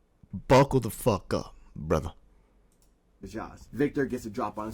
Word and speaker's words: Zsasz: Pizzazz, Pizza Oven, I don't know how to say his last name. After a quick Google search, it's Zsasz.